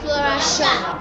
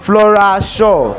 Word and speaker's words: Flora Shaw: Flo shi shaw..,Flora shar, ehnn, Flora Shar, Flora Shaw well after the practice for that day, I